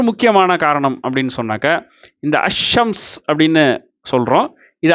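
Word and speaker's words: الشمس: ஒரு முக்கியமான காரணம் அப்படின்னு சொன்னாக்க இந்த அஷம்ஸ் அப்படின்னு சொல்கிறோம், இது அல் கமர் அப்படின்னு சொல்கிறோம். அப்போ என்ன ஆயிருக்கு அப்படின்னு சொன்னாக்க இந்த அல் கமர்னு சொல்கிறதுல அல்லு வெளிப்படுது, அஷம்ஸ்ன்னு சொல்கிறதுல அல்லு வெளிப்படலை.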